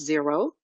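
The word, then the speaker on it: Xero: than fresh books there's another software called Zer xer o but it's pronounce zero um there's another software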